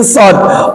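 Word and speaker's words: ص: So itu ketika dia berharokat. Kalau dia nggak berharokat, huruf aslinya sod.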